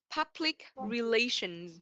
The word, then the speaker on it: public relations: So this word we will pronounce public relations. Public relation. Yes, the Z is the ending sound first.